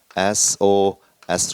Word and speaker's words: SOS: 이것 을 어떻게 발음 하나 요 ? " 에스 - 오 - 에스 " 라고 발음 합니다 .